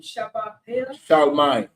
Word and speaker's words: Charlemagne: How you pronounce the name? Charlemagne.